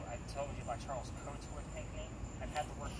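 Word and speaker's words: Cotesworth: So C-O-A-T, like we wear a coat, but his name is Coatsworth. Is he the one that was injured in the... No, he's the signer of the Constitution. Okay. So he's C-O-T-E-S Worth. So it's just definitely spelled differently, but phonetically sounds the same.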